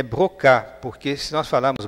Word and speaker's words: Broca: Essa palavra, esse esse nome pronunciado em francês é brocá, porque se nós falarmos broca fica uma pronúncia muito estranha.